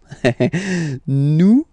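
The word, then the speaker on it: nous: Nome. Okay, new. Okay. So, you don't pronounce the final S here.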